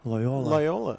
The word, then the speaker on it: Loyola: Is it Loyola or Loyola? Loyola. Loyola. Yeah. The emphasis is on the second syllable.